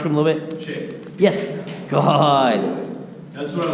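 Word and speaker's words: Shae: Shay, S-H-A-Y? S-H-A-E. Oh, Shay, okay. Same pronunciation.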